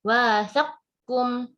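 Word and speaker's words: وَاثَقَكُمْ: Jadi bacanya wathaqkum, wathaqkum, langsung wathaqkum ya, wathaqkum.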